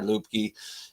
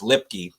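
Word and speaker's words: Luepke: See a guy like Hunter Lupke. Actually, I realized the other day that's pronounced wrong. It's Lipke. It's Lipke. It's pronounced Lipke.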